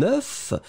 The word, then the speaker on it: œuf: C'est-à-dire qu'au singulier, c'est un œuf, et là, vous prononcez le F final, mais quand vous le mettez au pluriel, la prononciation change radicalement.